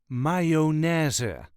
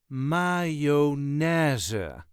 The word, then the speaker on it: mayonaise: The way us Dutchies say it is mayonnaise. The emphasis is on the third syllable. MayoNAIse.